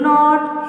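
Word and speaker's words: know: Okay, So first one I am going to read no. Which is the silent letter here? K.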